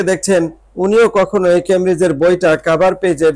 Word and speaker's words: Cambridge: দেখুন এটা কখনো কখনো আনসার হয়ে থাকে এই ক্যামব্রিজ এই ওয়ার্ডটা আনসার হয়ে থাকে ক্যামব্রিজ সি এ